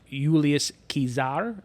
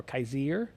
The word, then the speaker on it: Julius Caesar: Italy and actually in Latin it would be pronounced ulius kizar or Kaiser uh it was a hard C and there